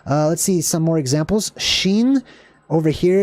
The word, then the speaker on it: shin: all right so kofresh sheen sheen so just like your shin which is between your knee and your ankle that's kind of how that's pronounced Sheen is the next